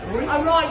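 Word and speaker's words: อร่อย: How you say it? Roy? Arroy is the right Arroy.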